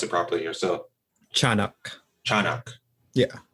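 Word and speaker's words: Tiyanak: Oh yeah, Tianak. Tianak. Yeah. Okay. It's like cha instead of tia. Oh yeah, I'm gonna pronounce it properly here. So Chanak. Yeah. Chanak.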